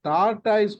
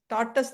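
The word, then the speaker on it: tortoise: ஒருத்தருக்கு டாடாய்ஸ் கூட வரல அப்படின்னு போட்டிருக்காங்க. அவங்க ஸ்ரீலங்கா லேடி டாடாய்ஸ் கூட ஒரு சிலர் ப்ரொனவுன்ஸ் பண்றது கஷ்டமா இருக்கு.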